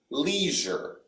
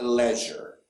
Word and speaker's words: leisure: leisure in american english when we see this e-i we pronounce it leisure not leisure yeah lead as i've emphasized before american english is more through the nose so leisure leisure okay